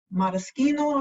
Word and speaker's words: maraschino: And we garnish it with a maraschino cherry, maraschino if you want to say it correctly.